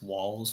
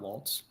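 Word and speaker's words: Walz: just going to say there's no T in walls' name it's walls not Waltz that's all I keep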